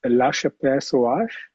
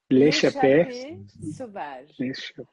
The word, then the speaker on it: L'Échappée Sauvage: Next one is La Chapelle Sauvage. This is how you say it? Sorry, my French. L'échappée sauvage.